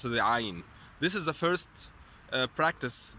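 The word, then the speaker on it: عين: muscles that move, and these muscles are the ones that you move when you pronounce the Ain. So if you swallow, these muscles, the same muscles you move when you pronounce the Ain.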